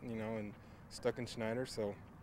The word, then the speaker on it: Stuckenschneider: attempt it but it's it's pronounced the way it's spelled you know and stuck in schneider so it's pretty easy there for to pronounce it s t u s-t-u-c-k-e-n-s-c-h-n-e-i-d-e-r stuck in schneider it's a mouthful i